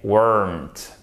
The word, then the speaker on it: weren't: Attention, en fait, le E, quand c'est en forme contractée, vous le prononcez directement ensemble. C'est le même son avec le R. They weren't. Donc c'est très très guttural, ça se fait beaucoup avec la gorge, d'accord?